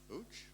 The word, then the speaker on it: Łódź: Is that the pronunciation? Łódź?